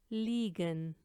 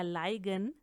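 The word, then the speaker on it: liegen: खिलौना, लीबन, लीबन love, लीगन, लीगन टू लाई पड़ा हुआ होना। आप नोट करें कि इनको अगर आप इनकी तरह प्रोनाउंस करेंगे जैसे कि डाइब, स्पाइलसॉइग, लाइबन या लाइगन तो ये गलत होगा।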